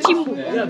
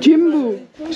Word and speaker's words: Jimbu: Jimbu. Jimbu.